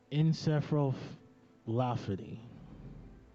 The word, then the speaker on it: encephalopathy: See if I get the pronunciation. It's encephalopathy.